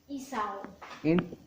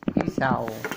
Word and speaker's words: Isaw: Isaw. Isaw.